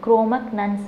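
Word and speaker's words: Cro-Magnons: குரோமக்னன்ஸ் அப்படின்னு சொல்லிட்டு இந்த இடத்துல ஜி இருக்கனால குரோமக்னன்ஸ் அப்படின்னு ப்ரொனவுன்ஸ் பண்ணுவோம். குரோமக்னன்ஸ் யாருன்னா இந்த ப்ரெசன்ட் மேன்.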